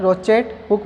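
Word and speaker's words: crochet hook: किसके हेल्प से करवाते हैं, रोचेट हुक, यानी यहाँ पे C है वो क्या है, साइलेंट होता है, रोचेट हुक बोलते हैं।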